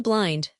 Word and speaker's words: blind: Find the blind, I may remark, are pronounced to rhyme with the predate of grin.